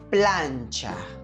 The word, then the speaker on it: plancha: mano conseguimos com lá planchar atenção aqui na pronúncia do CH é a pessoa que vai ter esse som de tch né então é tchá tchá assim que desse moço prancha